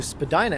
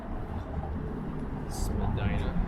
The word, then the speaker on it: Spadina: So now we're coming up to Spadina Avenue. Spadina.